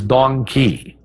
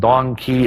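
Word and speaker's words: dong quai: I can't forget its female counterpart which is dong Kei that's spelled D o n g qu Ai and Dong key is a great herb for any female of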